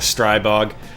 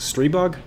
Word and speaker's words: Stribog: out of brass today we're gonna be looking at the strai bog though I actually think it's pronounced stray bug who knows I'll just